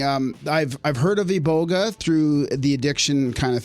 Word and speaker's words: iboga: in costa rica actually i probably said that wrong ebolga iboga how do you say that in gabon the indigenous people say iboga iboga right yeah i